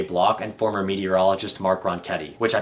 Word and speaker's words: Ronchetti: County Commissioner Jay block and former meteorologist Mark ronketti which I pronounced Ron Chetty in the tech talk but I'm correcting my